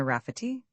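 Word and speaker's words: Rafferty: He addressed the Elder Rafety gravely, pronouncing the name with the accent on the second syllable, Sina Rafity, and this so amused the old man that he chuckled over it at intervals for an hour.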